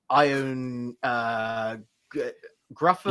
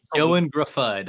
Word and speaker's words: Ioan Gruffudd: Neve Campbell, Brian Cox, John Coleshaw, Danny Glover, Ion Grufford. Ioan Gruffudd. Ioan Gruffudd, I believe is how you pronounce that.